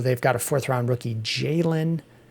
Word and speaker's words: Jalen: Other guys still on the team, we mentioned so they've got a 4th-round rookie, Jalen Wright, which rhymes with Braylon, the day 3 rookie on the Jets.